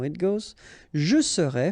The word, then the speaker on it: serais: Je serais, tu serais, il serait, elle serait, nous serions, vous seriez, il serait, elle serait. Okay, so let's see how it goes. Je serais, final S not pronounced.